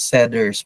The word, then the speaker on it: setters: ganon na part Pero setters iyan pag pronounce seters parang letter D setters setters closers mga